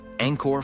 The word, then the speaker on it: Angkor: The second syllable, kor, is pronounced with a short O, akin to the O in pot, not the elongated kor often heard in Western renditions. When spoken correctly, Angkor flows as a singular